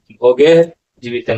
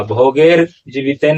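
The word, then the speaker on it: भोगैर्जीवितेन: इस तरह से किम भोगे जीवितन वा, भोगेर जीवितन ऐसा नहीं होगा उच्चारण।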